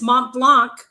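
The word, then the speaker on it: Montblanc: I just got to point that out to the that wrote in to me how to pronounce it. It's Mont Blanc.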